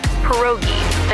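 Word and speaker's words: pierogi: It's pronounced perogi.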